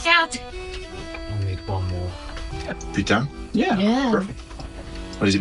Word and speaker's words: putain: The best part of the voice acting was trying to make everybody say merde and putain.